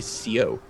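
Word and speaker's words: seau: oldfashioned French like uh the French word for a bucket is is so s e a u just pronounced so but like a proper Northern Ontario like old timey frankophone would actually say Co and people would interpret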